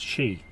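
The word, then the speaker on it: sídhe: Now, if you go back to the literature and the mythology refers to those sites as she, which is an old Irish word, S-I-D fada, H-E, pronounced she, and that is a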